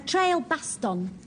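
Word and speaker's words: Trailbaston: tell us um well a trail Baston you got to pronounce it like that um it was an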